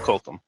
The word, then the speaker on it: Kulkum: villain was named coccoon which is actually spelled the same way my name's oh no no it's actually pronounced Colton okay good and then I